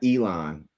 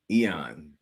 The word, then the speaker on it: Eion: It's Eion not Elon. Eon Bailey. Oh, okay. Like like like Ian. So Ian Bailey.